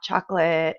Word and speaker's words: chocolat: pronounce this ah chocolate so we don't pronounce the t we don't pronounce the